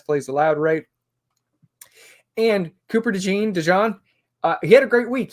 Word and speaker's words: DeJean: And yeah, I was looking up name pronunciations as well, and it does look like it's Cooper DeJean. I know I've been saying DeJean.